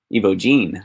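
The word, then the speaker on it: Evogene: EVOGEN, I was saying it wrong.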